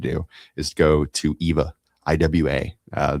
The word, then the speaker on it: IWA: do is go to EVA, IWA. Uh, they don't pronounce W's, they pronounce them like V's in Germany. That's why it's called EVA.